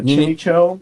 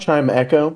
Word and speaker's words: Chimecho: Yeah, Chimicho. How do you say it? Is that how you say it? Chimecho. Chimecho? Chimecho? Chimecho. Chime Echo?